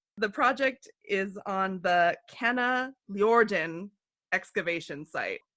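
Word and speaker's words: Kanaljorden: The project is on the Kana Ljorden excavation site. It's spelled Kanalljorden.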